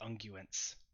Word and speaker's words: unguents: a it's a hard G, unguents. Unguents.